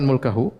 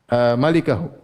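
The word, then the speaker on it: مَلِكَه: Kita bilang salah bacanya, bukan mulkahu.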